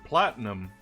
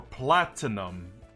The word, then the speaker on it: platinum: a female Finneon for Platinum. Or Platinum, I should be saying. Because I'm missing the T in the pronunciation.